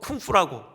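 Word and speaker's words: 工夫: 언젠가도 그 한자어 공부 그걸 중국어 발음으로 쿵푸라고 한다고 말씀드렸죠 쿵푸요 여러분 공부는 책상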